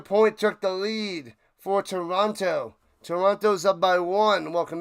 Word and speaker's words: Toronto: Don't pronounce the second T in Toronto. Toronto. Toronto.